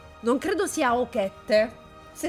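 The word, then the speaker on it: Ochette: ha richiesto di scegliere, penso si pronunci Oshette, non credo sia Okette, si è scritto Okette, però credo si pronunci Oshette, nel caso lo scopriremo.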